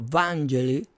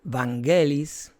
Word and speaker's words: Vangelis: compositor griego Evangelus Papatancio, mejor conocido en su pronunciación en inglés como Vangelis o en español Vanguelis, no sé cómo es en griego.